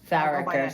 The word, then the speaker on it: Farricker: Is that the correct pronunciation? Farricker, but Farricker, sorry.